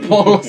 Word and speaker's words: Polos: Biasanya tuh kan polos tuh kalau di apa sih ya? Ngelihatnya tuh polisi nih. Padahal bacanya polos di belakang, gede lagi hurufnya.